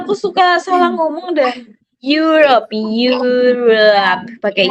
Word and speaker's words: Europe: European Country European Country Nah, that's depannya huruf Y. Depannya huruf Y bukan ir bukan ir.